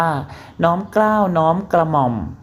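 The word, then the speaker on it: น้อมเกล้าฯ: พระ เครื่อง เป็น ต้น สำหรับ น้อมเกล้า ไปยาล น้อย เรา จะ อ่าน ว่า น้อม เกล้า น้อม กระหม่อม ใช้ ใน กรณี ถวาย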